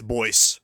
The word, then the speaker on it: Boyce: Wouldn't it be pronounced Bois? Yeah, it would, but it's Boyce. Everyone knows it's Boyce.